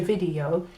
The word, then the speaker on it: video: The letter V often gets a B sound in Espanol.